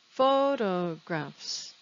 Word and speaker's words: photographs: syllables photographs three syllables where is the stress photographs yes it's on the first syllable so let's look at